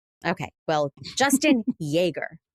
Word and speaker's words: Jaeger: Like the popular German beverage. Yeah. Exactly. Yes. Yes. But when I met you 10 billion years ago, all of your rap scallion friends said, "No, it's Jagger.